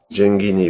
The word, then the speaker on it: Genghini: pour commencer on a appris qu'il fallait bien prononcer Bernard gengini et l'invité de monstade à moi j guini ou le GH c'est en italien voilà c'est